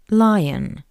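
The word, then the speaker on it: лев: word li which means lion. A lion in Russian is li. Please note that the voice consonant v at the end of this word sounds like the paired voiceless consonant f v.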